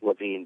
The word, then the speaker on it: Lavine: It's actually just Lavine, but it's spelled kind of funny.